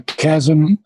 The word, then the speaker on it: chasm: abyss very good a chasm the h is not pronounced okay okay now a